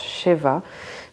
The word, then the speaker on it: Shiva: Je crois qu'au passage Shiva ça se prononce Sheva, mais on va rester sur, on ne prononce pas comme il faut, tant pis.